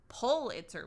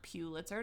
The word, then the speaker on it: Pulitzer: the we now know Pulitzer Prize yeah and not pule it sir don't say it like that you'll sound like an yes um we both